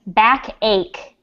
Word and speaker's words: backache: repeat after me bruise the second one is back ache backache egg not ache ache fake age okay third is fever